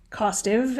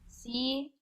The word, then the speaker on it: costive: Costive, it passed from Latin to French to English, and there's two pronunciations given, but those are, in our accent, pretty indistinguishable. Costive or costive. Okay. Costive. CAUSTIVE.